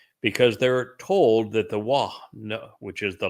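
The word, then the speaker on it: Waw: The Wah in Hebrew was a vowel. It conveyed the O sound. It sometimes can be rendered as a U sound. It's just like the English W. English W is almost always pronounced as a vowel consonant conveying the O or the U sound. That's why it's called a double U in English.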